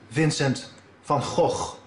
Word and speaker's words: Vincent van Gogh: good come on come on the correct dutch pronunciation is vincent van gogh please don't try this at home well what